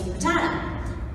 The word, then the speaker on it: Rattata: So it's Rattata. And I would come in, and every time I'd go, and one of the files wasn't labeled. I'm like, is it Rattata or is it Rattata?